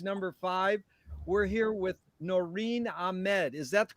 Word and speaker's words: Noreen Ahmed: interview number interviews number five we're here with noreen ahmed is that the correct way to pronounce it yep that's me noreen what a